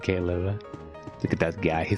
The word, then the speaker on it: Caleb: Caleb, not Caleb. Caleb.